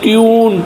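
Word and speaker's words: tune: जैसे आर यू एल E rule, अब rule में लास्ट में ई आया इसका उच्चारण नहीं हुआ है। टी यू एन ई ट्यून यानी ध्वनि, जे यू एन ई जून महीने का नाम, टी यू बी ट्यूब।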